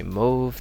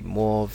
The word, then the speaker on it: mauve: It says it's not supposed to rhyme with stove, but depending where you're from, some people might say mauve, they might say mauve, they might say mauve. And I think more American mauve, but yeah.